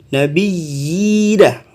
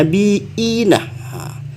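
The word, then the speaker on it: نَبِيِّينَ: Karena terdapat 2 iya di sini ya. Nabiyina. Kalau di imam yang lain bacanya nabiina. Tapi di sini yang Imam Hafaz yang kita anut dalam pembacaan kita ini nabiyina.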